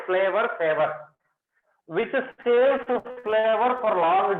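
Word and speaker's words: Flavr Savr: Very good example for this is flower saver tomato, which is written like this, but you have to pronunciate flavor saver, which saves flavor for long duration.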